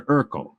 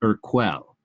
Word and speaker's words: Urquell: he was drinking beer pilsner urkel although he mispronounced it and called it urquell the woman has a